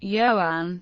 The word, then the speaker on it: Ioan: The Welsh name Joan pronounced Yoan is an equivalent of John and Gruff.